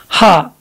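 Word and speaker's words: ح: You don't have exactly there in English, as if we see Ha in English, it is pronounced and its position there is very above where we produce Ha there in Arabic language. It's there above near to mouth there when we produce English Ha.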